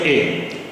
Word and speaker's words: est: il est, E-S-T को pronounce करते हैं ए।